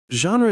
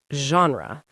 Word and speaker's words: genre: The pronunciation is genre. That soft first sound is the French J.